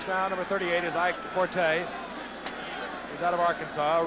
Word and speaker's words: Forte: No, it's 40. No, it's Forte. We're changing. Oh, we're it's spelled changing.